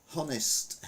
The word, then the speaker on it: honest: things doesn't it meanwhile English lesson tsunami T is silent honest H is silent psychology P is silent.